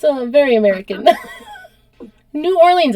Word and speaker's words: New Orleans: it's a very American New Orleans is supposed to be new orol we no one says that we call it New Orleans should it sounds better it does sound better but we say it like Americans New Orleans the son of the